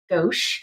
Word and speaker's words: gauche: Yeah, I think gauche is the proper way to say it.